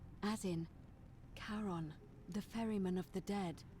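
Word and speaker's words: Charon: it's just as you described it only your pronunciation is a little off the name you heard wasn't karen it was c h a r o n as in caron the ferryman of the dead oh who in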